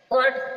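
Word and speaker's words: caught: means है खरीदा यहां पर हट जी एच साइलेंट है कोट कोट मींस पकड़ा जी साइलेंट है ब्रोट ब्रोट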